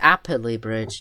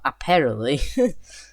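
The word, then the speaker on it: Apperley Bridge: It's apply bridge. Not apparel. Apply bridge.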